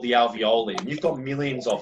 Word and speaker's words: alveoli: And that's what's called the alveoli, okay? So I'll spell that A-L-V-E-O-L-I. Okay, it's not aioli, it's the alveoli, all right?